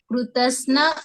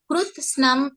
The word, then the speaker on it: कृत्स्नम: वो कृतस्न अधर्मः अभिभवत् इत होगा। तो आप जब उच्चारण करते हैं, हाँ, कृत्स्नम उच्चारण कीजिए।